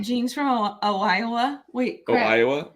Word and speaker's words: Iowa: from Ohio wait oh Iowa how do you say the State Iowa there's no o in the front of it but it is confusing